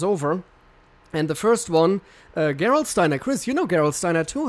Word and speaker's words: Gerolsteiner: people send us over and the first one Gerolsteiner Chris you know Gerolsteiner to her course gavage